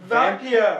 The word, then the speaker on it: Vampyr: It's pronounced Vampyr, oh, alright? I guess that is how you say it.